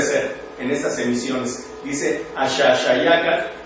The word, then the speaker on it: Axaxayácatl: llama la atención el Axaxayácatl, y en el caso de la X se pronuncia como la SH del inglés o como la H del francés. Cualquiera de nosotros diría Axaxayácatl, así brincado, o dicen Popocatépetl, Iztaccíhuatl,